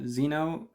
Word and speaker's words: xenophobic: email uh the word xenophobic is thrown in there i mean fear so xeno um the it's pronounced with a z it's spelled with an x uh we have to